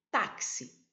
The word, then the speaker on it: táxi: Então vamos ver a palavra aqui, a palavra táxi. Táxi. Olha a forte é aqui, né? Tá. Ah, táxi. Esta aqui é a sílaba tônica, é a sílaba forte da palavra.